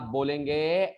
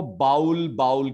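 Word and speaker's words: bowl: सुना गया होगा क्योंकि हम लोग इसको बाउल कहते हैं. बाउल. समझ गए? और इसका जो स्पेलिंग तो यही है, ठीक है, लेकिन प्रोनाउंसिएशन बॉल. थोड़ा ह का साउंड आना चाहिए. बॉल भी नहीं बोलना है, बॉल. थोड़ा ह आना चाहिए.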